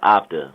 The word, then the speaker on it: Optu: it before you dig so is my name is after like the word optimistic or whatever I don't